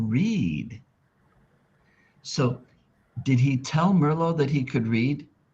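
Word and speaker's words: Merlot: In French, the last T is silent. So, the sister's name is Merllo. Merlo.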